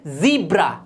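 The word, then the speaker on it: zebra: बिल्कुल गलत, ये होता है ज़ीब्रा। क्या पढ़ा जाता है? ज़ीब्रा।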